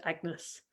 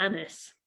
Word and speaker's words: Agnes: was very unstable, and Agnes was probably pronounced nearer to the French, like Agnes or Annis.